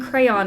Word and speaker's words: crayon: The Y in crayon is not a silent Y.